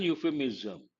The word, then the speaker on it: euphemism: Because when you take this word euphemism, say something harsh in a nice way. How do you pronounce? Imagine you, ya sound. That is a consonantal sound. Because it begins with a consonantal sound, we have to say a euphemism, not an euphemism.